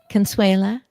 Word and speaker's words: Consuela: Consuela, I want to make sure that people find what I found, and that is finding a foothold. Did I say it correctly? Consuela? Yes, you did.